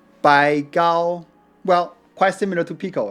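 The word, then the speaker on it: 白毫: Bai Hao in southern Fujian dialect is pronounced Bai Gao.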